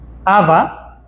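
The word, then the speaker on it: חוה: dado a la mujer que en hebreo se pronuncia Aba es comparando su parecido fonético con el término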